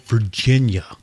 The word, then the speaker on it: Varginha: So there's a place in Brazil called Virginia. Virginia. It's called, but it's spelled differently. It's called Varginha or something like that.